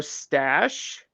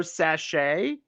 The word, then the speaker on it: sachet: um they actually said they said tarot stash no tarot tarot sachet okay um thinking it